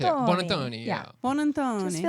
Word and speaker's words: Buonantony: So if you just say it like really fast with flair, that'll work too. Buonantony.